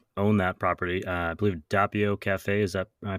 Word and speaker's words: Doppio: I believe Doppio Cafe. Is that am I pronouncing that right? Yes, Doppio.